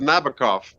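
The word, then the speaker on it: Nabokov: Shaken cough rhyming with Nabacov.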